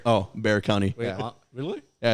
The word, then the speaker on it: Bexar County: county bexar county it's bear oh bear county yeah really yeah it's bear i did not know that that x is silent the x is silent uh it's weird that's